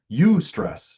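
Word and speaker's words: eustress: Ustress. It's pronounced ustress.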